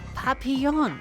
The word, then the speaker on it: Papillon: Papillon is how you say it. Okay, thank you. Thank you, Andu. I butchered that.